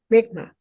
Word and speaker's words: Mi'kmaq: The how do you pronounce their name again? Mi'kmaq.